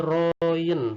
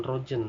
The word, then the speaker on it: Royen: roem-royen Mengapa ini disebut dibacanya ROM karena ini ejaan lama sebelum Indonesia disempurnakan ya Dan ini Royen bukan Rogen tapi rohingya ndak perjanjian ini sebenarnya hanyalah eh